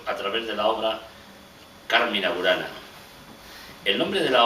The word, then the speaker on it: Carmina: La Real Academia Española sugiere que a la palabra latina se le coloque la tilde.